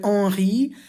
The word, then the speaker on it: Henri: And finally, Henri, I hope I'm pronouncing it right. I think the N is nasalized. So Henri, and it's spelt exactly like Henry, but with an I instead of a Y.